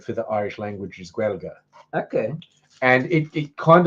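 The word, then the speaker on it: Gaeilge: Um but the Irish word for the Irish language is Gua. Okay. And it it kind of looks like Gaelic but with G's instead of any hard letters but it's pronounced Gua.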